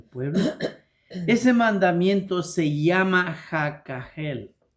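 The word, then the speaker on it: הקהל: ¿Cómo se pueden pronunciar más suave? Tal vez aquel. Aquegjel. Aquel. aquel o aquel aquel sin sonar la H que lleva ahí.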